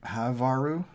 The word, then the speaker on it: Havaru: And I think that's kind of pronounced Havaru. Havar. Kind of like Elven. Helven. For half elven.